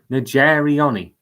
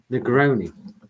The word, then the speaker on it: Negroni: The cocktail you were looking for is Nigeriani. Is that how you say it? No, it isn't how you say it. How do you say it? Negroni. Negroni. Yes.